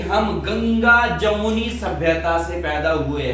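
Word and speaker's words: Tsangpo: में आ सकती है यह सांपो रिवर है सांपो ती से चलता है टी साइलेंट है शाम को रिवर चलती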